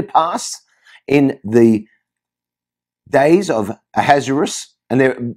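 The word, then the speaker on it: Ahasuerus: a hazaris and there there are multiple ways to pronounce his name some people call him aha a has ueris uh uh a hashurish uh there's a there's a hebrew way to pronounce it which i'm not even going to attempt but we're going to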